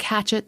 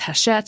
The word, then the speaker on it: Hachette: the show notes because it's spelled like it looks like hatchet, but it's Hachette because it's fancy.